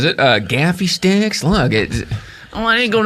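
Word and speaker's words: Gaffi stick: Now, do you pronounce it Gaffy stick or Gandalfi stick? Oh, Gaffy for sure. Yeah, it's Gaffy stick. I've heard Gandalfi. I don't know where it came from. Who's adding consonants?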